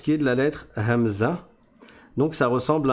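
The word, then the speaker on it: همزة: C'est le son e. Le son e, c'est pas difficile pour les francophones de le prononcer parce que on le prononce quand on dit la lettre A.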